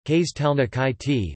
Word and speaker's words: Kristallnacht: Kristallnacht, German pronunciation, Kristallnacht, lit.